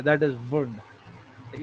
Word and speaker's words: Wundt: वुंड कहते हैं, हम क्या कहते हैं, वुंड, टी को प्रोनाउंस नहीं करते, वुंड कहते हैं बस।